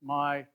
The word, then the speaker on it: Mi: login in Michigan every everything starts with Mi so it's pronounced my so it's your login